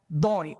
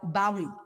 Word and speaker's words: Bawi: But today, with no hesitation, no embarrassment, no strange accents, the teachers had said Bawi instead of Baw Lee. They said Khung instead of Thang.